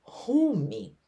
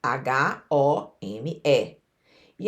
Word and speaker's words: Home: esse Lambert La Roche apresentava-se com o nome de rumi home se escreve h o m e ele se apresentava com o nome de home hu m e inclusive na notícia na